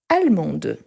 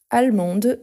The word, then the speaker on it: allemande: Les femmes, on a allemande, allemande avec le E à la fin, mais on prononce en fait le D. Donc, allemande.